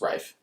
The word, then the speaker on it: Ralph: Don't spell his name Ralph if you want it to be pronounced Rafe.